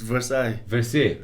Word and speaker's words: Versailles: It's Versailles. Versailles. Because in French, it's French word, so VERSEILLES, so IELLES, French, just like Marseille, you don't say Marcel.